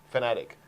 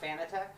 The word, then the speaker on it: Fanatec: Fanatic. Not Fanatec? Well, actually, I don't care. You can call it Fanatec. It was originally Fanatic, so it's technology for fanatics.